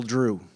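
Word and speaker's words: Dru: little Drew. Little Drew, D-R-U, 3 letters, 1 syllable, just like Happen Ace.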